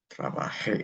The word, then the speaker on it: trabajé: But for the preterite, okay, for the yo and the ellos, okay, forms, the accentuation will be on the last syllable.